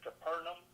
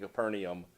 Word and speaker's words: Capernaum: Jacqueline is freaking out because it doesn't match the English language because it's not E-U-M, it's A-U-M. Or I-U-M. Or I-U-M. It's not English, that's why.